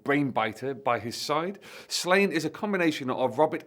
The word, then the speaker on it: Sláine: The barbarian fantasy series Sláine, or Sláine to give him his proper Irish pronunciation, was created by then husband and wife team Pat Mills and Angie Kincaid in 1983.